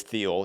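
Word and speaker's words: Thiel: But the same guy, the same guy, he's also Peter Theal or Teal. Depends on how people pronounce it, but it really is Theel.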